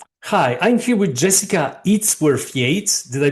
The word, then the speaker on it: Jessica Yates: Hi, I'm here with Jessica Yates. Did I pronounce it correctly?